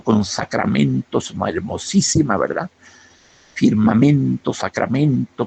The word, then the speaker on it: firmamento: No sé ni por dónde la rima firmamento con sacramentos. Hermosísima, ¿verdad? Firmamento, sacramento, porque son palabras de cuatro sílabas con acento en la segunda, perdón, en la tercera.